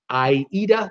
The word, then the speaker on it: AIDA: LNG cruise ship or Aida I eat at they pronounce it in